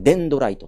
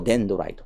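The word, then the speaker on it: デンドライト: てしまですねこれをですねデドライトと読みますトゲトゲをデドライトと読みますで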